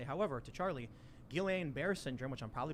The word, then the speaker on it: Guillain-Barré: I will also say, however, to Charlie, Guillain-Barré syndrome, which I'm probably pronouncing wrong, it's a side effect. I always mispronounce it. Yeah, me too. Guillain-Barré.